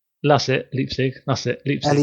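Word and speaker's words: Leipzig: Then there's the uh le pig. Is that how you say it? Le somewhere in Germany. Can I guess it? Yeah. I can't know how you say it. That's it. Leapstick.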